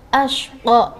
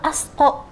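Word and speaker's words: الأشقى: Fa anzartukum naran talazza la yaslaha illal ashqa. Memakai shin besar. Jadi tidak illal asqa ya. Tapi biasakan dengan membaca shin besar. Seperti la yaslaha illal ashqa. Ashqa memakai shin besar ya, illal ashqa.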